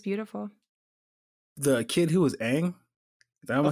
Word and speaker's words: Aang: The kid who was Aang, am I saying it right?